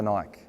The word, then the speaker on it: Nike: Another cool example is Nike. Do you say Nike or Nike? It's Nike.